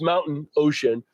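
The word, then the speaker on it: Mount & Ocean: for the concept of phonetically it's it's mountain ocean, but spelled out it's Mount Ampersand Ocean, kind of also an homage to Chesapeake and Maine.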